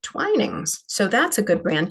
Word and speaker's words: Twinings: thought this was called twinnings for the longest time but actually no when I got to the UK they pronounce it twinings so that's a good